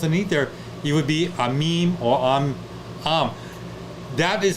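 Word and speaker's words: עם: It's the consonants are only two, and it's pronounced am. You could say am like in English, but it's not. It's am.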